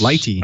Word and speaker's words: lighttpd: How do you say it? Lighty. That's Lighty. I think is the official name for it.